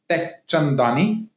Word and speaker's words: Teckchandani: My name is Teckchandani. Okay, so tech is already in my name, right?